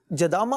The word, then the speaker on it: جدامہ: جی دوسرا نام جدامہ, یہ جدامہ کا انہوں نے, جدامہ اصل تلفظ جدامہ ہے, اور یہ ایک صحابیہ کا نام ہے, ماشاءاللہ.